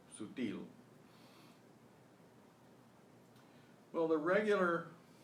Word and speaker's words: sutil: Now, how do you know that the stress is on the il syllable, sutil?